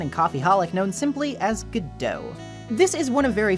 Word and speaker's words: Godot: much later Beckett would state that the proper pronunciation in his play was gato While most dubbed material for Ace Attorney uses a less dressed goodo when referring to him by contrast the Japanese